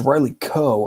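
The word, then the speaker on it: Riley Keough: gross kind of uh movies if oh it's Riley Koh okay yes thank you Henley um I I was not sure the pronunciation shout out to Henley um and um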